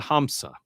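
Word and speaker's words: همزة: The hamsa is a glottle stop.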